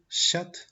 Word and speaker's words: chat: On a la combinación CH que se pronuncia como sh. Y on a l'exemple chat, chat, pardon. Tenemos la combinación CH que se pronuncia como el sonido sh, como silencio, sh.